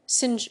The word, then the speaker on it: singe: in the same way he was taught to pronounce ape, singe, and tree arbor.